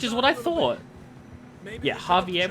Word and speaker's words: Javier: Yeah, Javier with an H, except not with an H, but pronounced with an H, because languages.